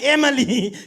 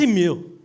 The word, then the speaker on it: Emile: I'm like, Emily, Candace, no. My name is Emile. And as per your computer screen, Emile is spelled E-M-I-L-E. The last E is silent.